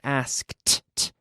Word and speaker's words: asked: sounds like a tea it's a regular verb but it's it is a regular verb but it sounds like a tea in the past asked asked ok no butter